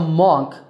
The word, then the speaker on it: monk: Not a monk, but a monk with an sound. Monk.